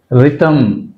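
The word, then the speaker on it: rhythm: రైమ్ right H silent రిథమ్ రిథమ్ ఇక్కడ కూడా H silent రిథమ్ right when when H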